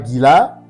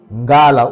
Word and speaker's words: Ngala: Ces mots-là, c'est pas Gila hein, ou Galade avec D, non. Ces mots-là, c'est prononcé ou c'est prononcé Ngala ou Mongala.